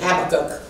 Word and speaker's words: Habakkuk: The word of the Lord can be found in the book of Habakkuk. We're going to travel around the Bible this morning, or some pronounce it Habakkuk.